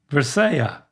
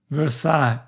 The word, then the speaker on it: Versailles: Versailles Versailles Bef- Dad, you're still saying the L's. Like, say the first half of the word, don't include the L's. Versaia That's pretty close. All right, so just say the first syllable. Ver Yep. Second syllable s a i Versai Versai That's it. That. Can you believe it? All those extra letters mean nothing to the French.